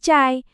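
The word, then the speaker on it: çay: Padahal bunyinya itu adalah bunyi yang kita pakai tiap hari yaitu bunyi C kayak di kata cepat. Jadi pas kamu mau pesan teh atau cai ya bilang aja cay.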